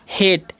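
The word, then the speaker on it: hate: यहां पर लिखा हुआ है एच ए टी ई। तो इसे हम क्या पढ़ते हैं? हेट। ठीक है? इसे हार्टे नहीं पढ़ना है क्योंकि यहां पर भी वही रूल लागू होगा। पहले वाले वोवेल का उच्चारण होगा।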